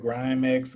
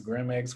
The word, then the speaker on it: Grimex: one like i said you can pronounce it grimex grimex whichever one cryptocurrency would definitely be